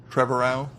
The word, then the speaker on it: Trevorrow: Trevorrow, who did Jurassic World.